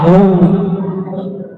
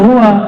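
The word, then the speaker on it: هو: Ya, hu, bacanya hu, jangan huwa, kecuali disambung.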